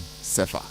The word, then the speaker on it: Sefa: That's the pronunciation. Sefa.